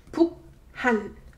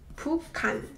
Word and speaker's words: 북한: This combination produces k sound. So 북한, 북한, right? But it's very uncomfortable for your mouth to pronounce it that way. It's rather pronounced 북한, 북한, 북한, 북한.